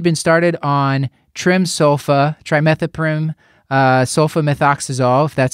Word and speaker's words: trimethoprim sulfamethoxazole: and he had been started on trim sofa trimethoprim sulfamethoxazole that's how you say it three days ago